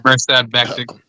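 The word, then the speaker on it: Mirsad Bektić: Mirsad Bektik.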